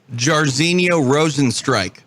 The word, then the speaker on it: Jairzinho Rozenstruik: Jairzinho Rozenstruik. Oh, I mean, this must be a repeat pronunciation of the week because you just sounded so good.